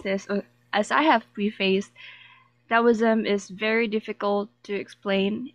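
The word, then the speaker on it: Taoism: for myself as this is supposed to be pronounced as DSM like with the not taism now generally Lau was is regarded as a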